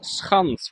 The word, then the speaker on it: Schans: We were today in Zaanse Schans, Schans with a very hard G, because that is how we're pronouncing it.